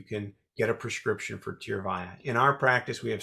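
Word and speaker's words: Tyrvaya: it's a very promising treatment how do you pronounce the name of it it's a tough name but it's actually pretty simple tear via t-y-r-v-a-y-a in spanish it means tears go oh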